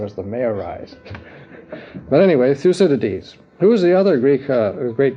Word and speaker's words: Thucydides: You can't pronounce it. Thucydides. No, Thucydides.